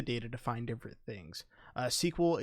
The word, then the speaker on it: SQL: to find different things sql it is pronounced the same way as like a movie sequel or a just a novel sequel but that is your